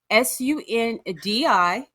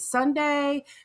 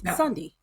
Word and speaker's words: Sundi: I'm like, is it Sunday? Kind of like the Sunday that you eat. Is it Sundi? And then James was like, oh no, I think it's Sunday. And I'm like, I don't feel like that's how you say it. So we were wrong. It's Sundi.